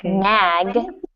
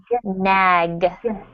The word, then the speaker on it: nag: So when you see a word like nag that ends in a G sound, Natalia and perhaps other students in the class, really practice the G sound. G. Nag.